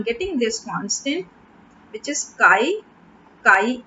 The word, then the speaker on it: chi: And if I remove the proportionality sign, this constant I am getting, this is pronounced as chi.